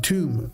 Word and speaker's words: Tomb: Tomb. The B is silent, right?